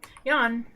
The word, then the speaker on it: Jan: Yawn, even though it's spelled like Jan here, it's a male ghost model here.